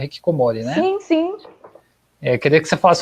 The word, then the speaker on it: hikikomori: E eu queria que você falasse um pouquinho sobre o que é Hikikomori. Eu pronunciei correto? É Hikikomori, né?